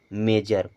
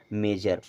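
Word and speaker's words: measure: पर एस य आरई यह लिखा शर अगर एस यू आर ई आ रहा है तो उसे पढ़ेंगे श्यर लेकिन यह पूरा वर्ड पढ़ा जाएगा मेजर क्या पढ़ा जाएगा मेजर और मेजर मीस होता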